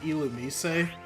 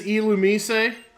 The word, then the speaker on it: Illumise: to be pronounced like Illumise. I always thought it was just like Illumis or something, or Illumise. But it's like Illumise, I think.